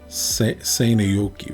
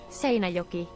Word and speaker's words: Seinäjoki: Seinäjoki. So the A is an R sound if it has the thingy above it.